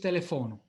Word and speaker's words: telefono: In Esperanto is telefono. It's always like that. And this is, let's say, mutuated from Polish, because Polish is almost always with a fixed stress on the penultimate syllable.